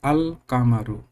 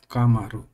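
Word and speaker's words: القمر: of the small letter it is pronounced the AL is pronouncing like Al kamaru not kamaru it is so this is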